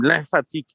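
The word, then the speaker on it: glymphatique: qui est le système lymphatique du cerveau. Donc, c'est pas moi qui prononce mal ou qui fait du belgicisme, c'est le système lymphatique avec un G, qui est le système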